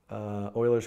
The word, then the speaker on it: Euler: in JavaScript right you a lers number no Euler's constant it's pronounced Euler right and it is the natural